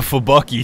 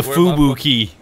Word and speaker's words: Fubuki: Farragut, is that how you pronounce yeah, Farragut. That? Farragut. Farragut. Okay. Yeah. I mean, there is the Fubucky, so. The Fubucky? Where's the Fubucky? It's the Fubuki.